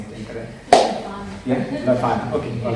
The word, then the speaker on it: Leuphana: Please correct me if I'm pronouncing it incorrect. Yeah, Leuphana.